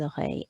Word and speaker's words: oreilles: Think of the Oreo biscuits. Des oreilles, ears.